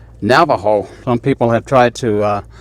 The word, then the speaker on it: Navajo: the spaniard heard it they gave it the spanish pronunciation and spelling and today it is uh pronounced navajo in this time period it